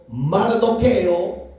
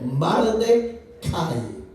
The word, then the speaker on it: Mardoqueo: enseñanzas hebreas, su tío Mardoqueo, pero en el hebreo se pronuncia Mard. Cai, así como lo oyen, Marde Cai, ese es su propio nombre legítimo.